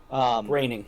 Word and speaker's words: Groening: Matt Groening. Groaning rhymes with complaining.